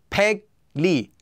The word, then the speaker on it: 백리: Anytime the first syllable ends with a 기역 sound, and the second syllable begins with the consonant 릴, the 기역 will become pronounced as an 이응, just like it would with our example of 한국말. And the 릴 will become pronounced as a 니은.